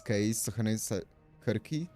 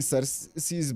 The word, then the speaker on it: Circe: Uh the Greek and Latin C's are pronounced as Kirk. Oh, okay. So it's Okay, I see. So it's different. I was saying Cers because of um that's